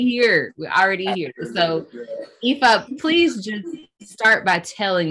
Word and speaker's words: Ifa: And underneath that is Equestrian Fitness Academy, which Abriana mentioned, which is branded and acronym is EFA, which is the pronunciation of my name.